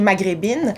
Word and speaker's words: Maghreb In: Donc, on pourrait le prononcer Maghrebine, mais il a été écrit Maghreb In. Parce que c'est In.